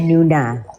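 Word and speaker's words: Noona: Itu bacanya Nuna. M-nya O-nya 2, jadi Nuna.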